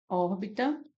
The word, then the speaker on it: órbita: cía mais forte né a última em órbita órbita nós temos como cía mais forte a primeira